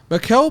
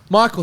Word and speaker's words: Michael: Mikel Porter Jr. Michael, thank you. I knew I said it wrong.